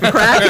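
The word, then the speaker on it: craic: Crack is spelled C-R-A-I-C, right?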